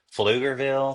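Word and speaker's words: Pflugerville: of them are just fuger Ville starts with a P I mean I love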